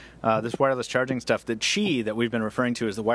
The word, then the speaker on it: Qi: If you want to look up this wireless charging stuff, the Qi that we've been referring to is the wireless charging standard that's the most popular right now.